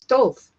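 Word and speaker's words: טוב: It's tov. It's tov. And that's spelled tet, vav, bet.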